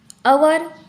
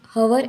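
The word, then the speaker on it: hour: बाद इको ओ के पहले एच आया है साइलेंट अवर हमारे घड़ी में जो अवर होते हैं उसको हम हर ऐसे नहीं कहते उसका प्रोनंसिएशन अवर ऐसे हो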